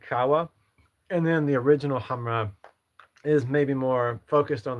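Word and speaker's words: Khamrah: These right here, Latafa Hamra, it's it's pronounced Hamra, I believe, but it's spelled with a K.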